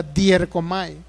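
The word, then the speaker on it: διέρχομαι: es una palabra griega, dierkomai. Y esa palabra griega, dierkomai, así como se escucha con D-I-E-R-C-O-M-I, dierkomai es la manera en que más o menos no se traduce, sino se pronuncia.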